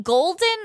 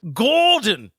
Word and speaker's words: Gordon: Are you saying golden or Gordon? Gordon. Gordon is the American accent. We pronounce our Rs differently than you do over here.